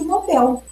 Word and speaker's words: Nobel: Então, se vocês observarem na gramática culta, na norma culta, como deve ser a pronúncia? A pronúncia considerada correta é rubrica, gratuito e Nobel.